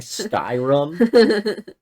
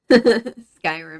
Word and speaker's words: Skyrim: I don't R rallies and then you're saying skyum Skyrim Skyrim I'm thinking about my